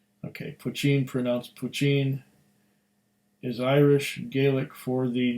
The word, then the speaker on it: Poitin: Poitin, pronounced Poitin, is Irish Gaelic for the new make whiskey spirit. Yep. I don't know, when I see POI, I think of poi, but it's Poitin.